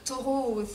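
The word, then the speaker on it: Thoreau: chez donc chez donc taureau aussi le prononcer en de manière un peu plus conforme à la langue originale donc donc taureau c'est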